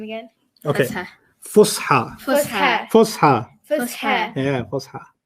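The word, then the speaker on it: فصحى: Fusha. Fusha. Fusha. Fusha. Yeah, Fusha. Fusha. And then the old one is ancient Arabic. You don't have to know the terms yet, but Fusha is an important word to know.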